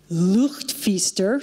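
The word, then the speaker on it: luchtfietser: idea focused and okay I'll teach you a Dutch word it is looked Feaster did I say that right your Dutch there we go that's how you say it it means err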